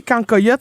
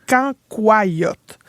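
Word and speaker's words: cancoillotte: Mais ça ça moi je dis cancoyote mais il paraît qu'il faut le prononcer canyote.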